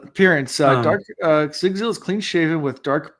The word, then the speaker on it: Sigzil: Zigzil. It's Sigzil. Oh, Zigzil. Okay, like that. Because the pronunciation, and I can tell they're trying to